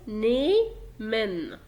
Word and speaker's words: nehmen: ففي الحالة دي ما بقرأش الها اصلا، فبقول نيمن. نيمن ده فعل يأخذ.